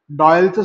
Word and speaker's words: Doyle: डॉयलचं spelling पहा, DOYLE, पण उच्चार काय करायचा? डॉयल.